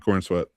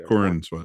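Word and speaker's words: Corenswet: How you say his name? Corn That's sweat? fine. Corn sweat. Yeah, Corn sweat.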